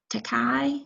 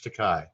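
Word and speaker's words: Takei: very good for introducing this and also george takai i think is how you say his name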